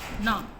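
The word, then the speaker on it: numb: The mains arms वर नम, ठीक है, इसमें बी साइलेंट है, इसमें बी साइलेंट है।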